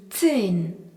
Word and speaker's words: zehn: Le nombre 10 se dit zehn. Z-E-H-N. Dans le mot zehn, on remarque le Z qui se prononce T et le H qui prolonge la voyelle E qui se dit E.